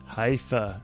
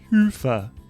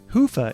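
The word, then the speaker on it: Hyvä: company T Commerce is sponsored by hia or as the Europeans say Hua or the right way to say it hufa is rapidly becoming the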